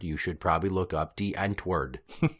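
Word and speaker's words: Die Antwoord: know D anward you should probably look up Dent word d i e a n t w o o r d except they pronounce it D ENT word CU they're from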